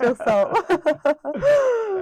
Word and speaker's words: Çok sağ ol: Çok sağ ol.